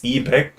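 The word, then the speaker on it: 이백: on purpose like apparently I don't know how to pronounce his name in Korean. It's ebec. Oh yeah, yeah, yeah. But like in English it's eBay.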